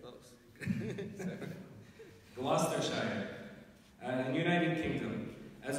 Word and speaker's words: Gloucestershire: Gloucestershire, in the United Kingdom, as well as a bachelor's degree in information and computer science from the University of California.